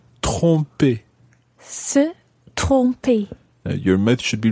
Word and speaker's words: tromper: Now, Earlier I said that you need to make sure that you're pronouncing tromper well. Tromper. And the reason for that is because there's another verb in French, and that's tremper.